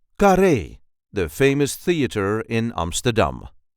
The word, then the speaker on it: Carré: see how to pronounce kare the famous theater in Amsterdam. This is the way we say kare k. There is a light emphasis on the last syllable car.